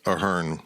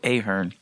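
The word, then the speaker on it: Ahearn: people are trying to recover the name as aarn Fieldhouse which is I'm told the proper pronunciation of it because I feel like even on TV and on campus they call it aharn that's what it's been known as I mean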